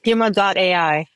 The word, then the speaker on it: Huma.ai: Huma, like mama, 2 M's. Huma.ai. Huma.ai. I should have gone with my gut because I almost did it. And then I was like, no. Okay. Huma.ai, with a focus on empathetic AI.